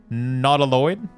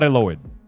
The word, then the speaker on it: Nautiloid: Nautiloid. Nautical, but Lloyd. Not Eloid. Not Eloid.